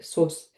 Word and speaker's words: sauce: Fruit platters, ceramic jugs, compost pitchers, oblong sauce boats, where we're from, sauce is pronounced in the French way. sauce, round cake stands with feet and other mostly porcelain stuff.